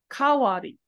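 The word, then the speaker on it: 代わり: However, when dai turns and has the hiragana character as wari after it, it actually is pronounced differently. It's pronounced as ka. Kawari.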